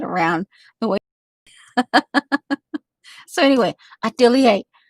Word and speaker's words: atelier: i see well it's i pronounced it atelier and that's how i learned it atelier and then you have to say it really fast atelier atelier that's how when you